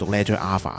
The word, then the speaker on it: Leger A.Fah: The second Hong Kong brand is Leger A.Fah. Make sure you pronounce it Leger A.Fah, because the founder actually sent me a message to remind me not to get it wrong.